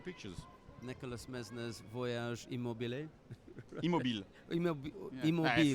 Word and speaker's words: Immobile: Immobile. Immobile. French is a little bit difficult. Right, there are letters that we don't pronounce.